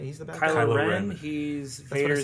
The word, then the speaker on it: Kylo Ren: You said it wrong. You said Rilo Ken. Yeah, Yes. that's what I said. Kylo Kylo Ren. Ren. Oh, okay, sorry. Yeah. Yes. Mix the two first letters there.